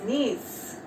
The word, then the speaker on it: gneiss: Now next one is nails. G is silent here.